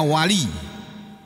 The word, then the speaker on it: wali: Waliyun tulisannya waliyun, membacanya wali.